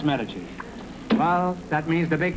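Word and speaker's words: Medici: meach cheese me e d i c i pronounce metes well that means the big question next week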